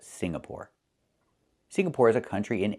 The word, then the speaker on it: Singapore: It's not Singapore. It's Singapore. The NG makes a sound M in your nose. Sing like when you sing a song together. Singapore, not Signapore, but Singapore.